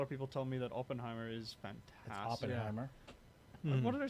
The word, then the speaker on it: Oppenheimer: do they say Oppenheimer did I say open not it's well you said it's somewhere in between no you have to say it Oppenheimer yeah that's the way you say it right there I'm going to watch